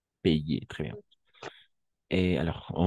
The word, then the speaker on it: payer: AI ou AY, toujours E. Ce sería payer, d'accord? Payer, très bien.